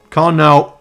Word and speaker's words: Karnaugh: you mean yeah yeah so it's known as a con con con now con Now map con Now map yeah